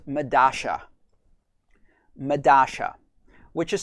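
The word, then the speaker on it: Medalla: is this um that the double l is pronounced in the argentinian pronunciation or south american pronunciation medasha just like porscho and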